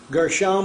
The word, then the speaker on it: Gershom: son was called gershom gershom with a meme we're studying gershon with the noon or the n sound as opposed to the m sound at the end of the word the number wise gershom